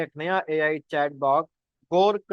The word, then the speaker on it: Grok: और इसका जो सही स्पेलिंग है वो गोर्क नहीं है, वो है GROK, ग्रोक है ये, जो यहाँ पर जारी किया गया है।